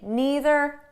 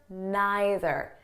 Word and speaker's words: neither: Now, before we go any further, I just want you to know that the pronunciation is flexible. So you can say neither, neither, either, either.